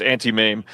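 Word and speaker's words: Auntie Mame: It is pronounced anti-mame.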